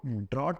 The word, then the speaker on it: draught: इसको ड्रॉट पढ़ते हैं और इसको ड्राउट पढ़ते हैं।